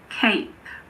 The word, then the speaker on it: cape: CAP, for example, is pronounced cap. But if we add an E to the end, it becomes cape.